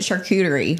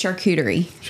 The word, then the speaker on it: charcuterie: First of all, don't pronounce it charcuterie. How do you gonna say it? No, you're right. He says it wrong. But say it. Charcuterie. Yeah. There's no. It's charcuterie.